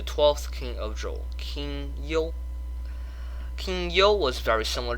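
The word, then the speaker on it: 幽: Now, don't go mispronouncing the king's name as King Yu, okay? It's Chinese pinyin. It's supposed to be called Yo.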